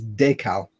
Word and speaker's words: decal: So in French it's décal. But decal doesn't really work for me. I prefer decal.